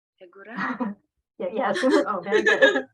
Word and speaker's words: Yagura: It's called Yagura. Hegura? Yeah, yes. Oh, very good. Very good pronunciation.